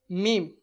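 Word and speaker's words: م: Next, meme. Meme. The meme is articulated by closing the two lips together, just like as.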